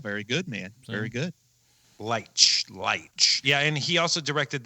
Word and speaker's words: Leitch: And David, how do you pronounce it? Leitch, sure. Leitch.